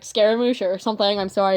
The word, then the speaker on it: Scaramouche: or something I'm sorry I keep struggling to pronounce his name even though I I normally pronounce it scar emotion my own time but I don't want to sound stupid so I try to pronounce it says Scaramouche around other people uh but that's off